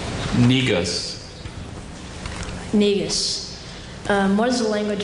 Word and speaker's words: Negus: Negus.